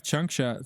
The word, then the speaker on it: Changsha: Is that correctly That's pronounced? right, Changsha.